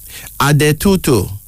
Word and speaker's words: Adetutu: Adetutu. A-D-E-T-U-T-U.